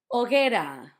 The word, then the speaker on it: hoguera: Hoguera, fire pit. Not fire pit, big fire. Hoguera had the difficulty of the H at the start, not hoguera, and it also had the gue. That sounds ge.